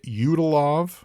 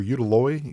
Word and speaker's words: Udaloy: away it's the frig udalov or udaloy udalo I'm not sure how that's pronounced in if the Y is silent or I'm sorry the Y is a v but U UD a